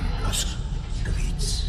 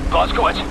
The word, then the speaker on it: Blazkowicz: It doesn't sound right in English. Say it correctly. Blazkowicz, hate to pile it on, mate, but we're in the weeds over here.